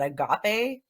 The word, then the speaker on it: agape: It was the archetype card called I don't know if I'm saying this right, but agape.